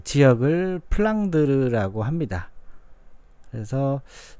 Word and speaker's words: 플랑드르: 유명한 3부작이 얻습니다 자 플란다스의개 지방은 플랑 드 주 의 영어식 발음 인데요 플랑드르 지역은 유럽의 역사에서 도